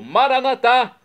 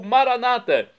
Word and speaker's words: Maranatá: E agora do aramaico eu clamo Maranatá, como dizemos nós católicos, ou Maranata, como dizem nossos irmãos separados, os evangélicos ou protestantes. Não importa a pronúncia, o significado é o mesmo.